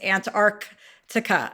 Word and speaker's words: Antarctica: By the way, I learned in Antarctica that the correct correct pronunciation is Antarctica. And I'm like, that's too many C's.